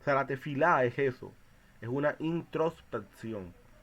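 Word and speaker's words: תפילה: de la palabra que tefilá, o a veces se pronuncia como tevilá, pero es tefilá, que significa intercesión o súplica.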